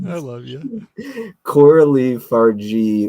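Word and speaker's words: Fargeat: love you Coral Le far G with a hard G like Gizmo okay Coral Le farg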